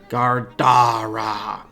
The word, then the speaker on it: Gardara: It was, and this time it spoke a 3-syllable word that sounded like Gardara, with the second syllable emphasized.